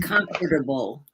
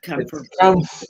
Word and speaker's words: comfortable: e syllable there and it's not comfortable it's comfortable it's comfortable comfortable there's no comfort in it it's not comfortable it's